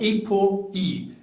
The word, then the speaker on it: ApoE: So if you have the ApoE gene, then you're more likely to have dementia or develop dementia. Say that again slowly. Or can you spell it? It's called ApoE, APO-E, ApoE.